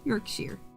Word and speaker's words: Yorkshire: Yorkshire.